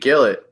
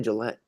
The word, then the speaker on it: Gillet: do you say it I always said JB kill it kill it that's what I used to say and then the other day said Gillette Nelson why did I say Gillette no right now it's